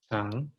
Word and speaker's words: 장: So this silent word is at the bottom again. So it's the ng sound. 장.